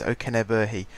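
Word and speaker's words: Okenabirhie: guy here Oken B I can pronounce his name see I went to most preseason friendlies steers this season and I spent a awful long time listening to how different PA announcers announced his name and I've come to the conclusion that it is Oken B that and the fact that the man himself told me how to say his name so uh there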